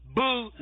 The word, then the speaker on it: Boule: itself is spelled b o u l e Bole that's how you pronounce it was formed to bring together a